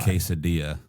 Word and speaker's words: quesadilla: The two L's are the Y sound. Right? Yeah. The J is the Y. Quesadilla.